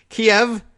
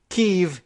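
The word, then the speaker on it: Kyiv: great audience we have Kiev Russian pronunciation keeve Ukrainian pronunciation preferred right Ukrainians well we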